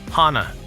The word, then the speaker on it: Hana: Hannah. It's pronounced Hana. Hana.